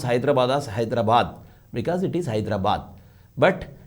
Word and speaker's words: Hyderabad: how do you pronounce Hyderabad a Telangana will pronounce Hyderabad as Hyderabad because it is Hyderabad but in Andra they call it as hyra bad hyra bad what is this it is not